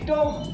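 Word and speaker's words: tomb: টি ও এম বি টোম বুঝিবালা এনে কয় আমার এম আক্ষরের পিছনে যদি বি আক্ষর টু থাকে তে হলে বি আক্ষরের উচ্চারণ ন হবো ন হবো হবো না না হবো ন হবো বুঝিলা ভাই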